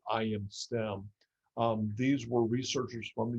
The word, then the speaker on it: ImStem: stem cell is called ImStem. So the letter I, the letter M, and then STEM, STEM. It's actually all one word, but they pronounce it ImStem.